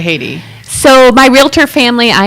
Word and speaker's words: Heidi: you guys know me as Haiti, and that's my good old Norwegian pronunciation.